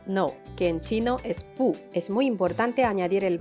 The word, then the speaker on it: 不: B, u, con cuarto tono, pu, pu.